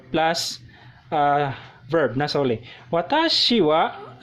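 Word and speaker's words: は: This is spelled as ha but pronounced as wa.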